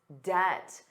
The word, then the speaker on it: debt: But he has to manage his debt, the total amount of money he owes. And notice that pronunciation. Did you notice the B was silent? Debt. Debt. Debt.